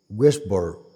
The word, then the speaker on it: Westbrook: Así se pronuncia en inglés, David Westbrook.